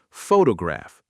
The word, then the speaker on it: photograph: Photograph, stress on the first. Photography, stress on the second. Photographic, stress on the third.